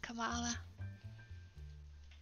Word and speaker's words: Kamala: I know it's pronounced Kamala.